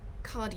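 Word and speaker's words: khadi: cheryl thanks gene nice to see you um cardi paper amy says um do a google search it's spelt k-h-a-d-i you can get it from talus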